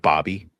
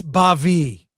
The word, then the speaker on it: Bavi: The Vulcan named Bobby. Well, it's Bavi. I'm pronouncing it.